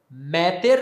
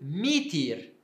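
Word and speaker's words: μήτηρ: origem indo-europeia agora aqui ao invés de dizer então meter eu vou dizer mitir em grego koiné na pronúncia do grego koiné bom para ler a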